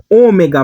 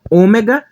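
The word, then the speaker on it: ὠμέγα: Ômega grego Ômega português representa o ó só que um o com a11 acima para diferenciar do homem então esse ou aqui vai ter um som mais fechado o homem cronson mais aberto Então observa que esse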